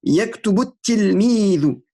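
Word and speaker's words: يكتب التلميذ: On va même pas prononcer le lam parce qu'il y a une lettre shamsiya. Yaktubutti. Yaktubut tilmidu.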